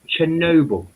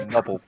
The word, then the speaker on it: Chernobyl: I would appreciate it if you actually pronounce it correctly. Chernobyl. Thank you. Chernobyl.